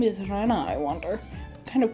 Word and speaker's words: レナ: お礼の礼に奈良の名。竜宮レナが本名ですのよ。It's the Rei from Ore and the Na from Nara. Her real name is Reina Ryugu. レイナか。 Reina, is it? それでレイナじゃなくてレナって読むのか？ So it's read out as Rena instead of Rena? 面白い読み方だよな。 That's a pretty interesting reading. いいえ、違いますです。レイナで正しいのです。No, that's not it. Reina is the correct way. レナさんが言ったのですわ。レナと呼んでほしいって。Rena-san had told us that she wants us to call her Rena.